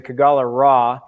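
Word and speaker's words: Kogalla Ra: know the sun god so it's actually the kagala raw uh but i think over uh two years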